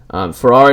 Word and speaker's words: Ferrara: Ferrara.